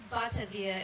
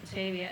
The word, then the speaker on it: Batavia: and I was like, Batavia is so nice. You're gonna love her. She's a sweetheart. She gives you kisses on both cheeks. Very continental dog. And someone was like, it's pronounced Batavia.